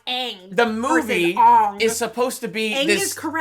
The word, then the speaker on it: Aang: It's Aang, movie. My name is Ong. I'm Aang. It's Aang.